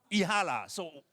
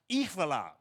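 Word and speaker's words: Jihlava: The name of the city without butchering the pronunciation. Ji.hlava. So again. Ji.hlava. Ji.hlava.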